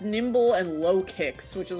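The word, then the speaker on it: Nymble: This is Nimble. It's a cricket. How do you spell it?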